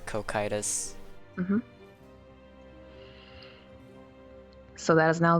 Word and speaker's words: Cocytus: Alright, according to YouTube, it's cocytus. The second C makes a K sound. It is pronounced as cocytus.